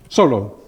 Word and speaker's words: Solow: Tinbergen, but also in, say, the works of Solow, I don't know how you pronounce him here, because you know how much better how to pronounce Solow. What is it, Solow or Solo? Solow.